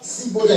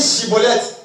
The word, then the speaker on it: Schibboleth: Cibolette. Il disait Cibolette. On dit Chibolette. Il n'arrive pas à dire Chibolette, il dit Cibolette.